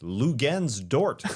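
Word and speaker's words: Luguentz Dort: Lou Gens Dort is the way they say his name in intros.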